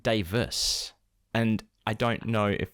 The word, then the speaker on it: Davies: And his name is spelt Davies, Davies, but it's always pronounced Davis.